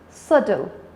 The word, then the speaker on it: subtle: pronounce it's like subtle so it's subtle b is silent what else synonym of